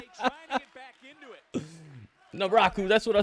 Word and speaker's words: Naraku: He's got Booker T calling him Naroku. His name is not Naroku. What the heck, Naroku? Naraku.